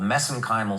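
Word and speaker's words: mesenchymal: for that but that's that's a little bit of an Irish accent on my part got uh but anyway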